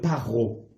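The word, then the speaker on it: פרעה: Et Pharaon se dit en hébreu paro.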